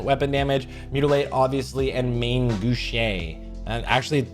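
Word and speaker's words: main gauche: Mutilate, obviously, and Main Gouche. And actually, I'm pretty sure I found out it's pronounced Mangouche, whatever.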